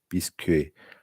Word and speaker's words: bisque: Well, it's not the French never pronounced the S anyways.